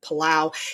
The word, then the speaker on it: Palau: So, evacuation systems overall evolved from Civil War wagons to actual air transport from islands like Guam and Palau. It's either Palau or Peleu.